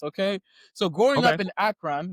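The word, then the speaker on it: Akron: So, growing up in Akran, is that how you say it, right? Or is it Acron? Akran. Yep.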